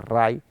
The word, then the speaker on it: Reye: de las mitocondrias hepáticas, que se llama síndrome de Ray, que se escribe Reye, pero se pronuncia como ojo Ray, que es extremadamente grave, pero